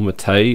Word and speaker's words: MATE: Linux Mint are uh mate or mate as it's supposedly pronounced uh and cinnamon uh